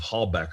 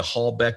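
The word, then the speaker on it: Halbach: was that tesla was using some type of hallback arrangement and that hallback is spelled h-a-l-b-a-c-h hallback uh a hallback array and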